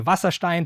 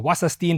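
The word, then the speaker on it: Wasserstein: And so this would be what's called the Vasstein distance or wasine difference if you want to pronounce it English.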